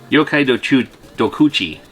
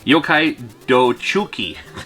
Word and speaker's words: Yokai Dochuki: Yokai Dochuki, which is that Shadowland? Is that right? That's not what it translates to. Yokai Dokuchi. Wait, what? Yokai Dochuki. That's what I'm trying to say here.